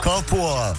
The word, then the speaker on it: Carrefour: Voilà, correctement, Carrefour. sans accent.